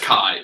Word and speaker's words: chi: chi. This is the Greek letter X. Okay. Well, pronounced chi.